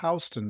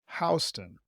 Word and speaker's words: Houston: The city in Texas is pronounced Houston, while the street in New York is pronounced Houston. It can be a little confusing for visitors. So, this neighborhood south of Houston Street looks very different